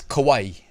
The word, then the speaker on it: kawaii: hit the little enunciate icon, and it was kawaii.